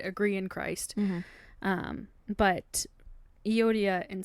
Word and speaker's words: Euodia: Philippians 4:2-3 says, I urge Euodia and I urge Syntyche, which I Googled how to pronounce their names, and I think that's how you say it, to agree in the Lord.